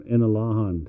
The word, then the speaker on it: Inalahan: Inalahan. From Inalahan.